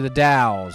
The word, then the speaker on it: The Dalles: We should go to the Dalles, as I now know it's pronounced, thanks to Gresco and company.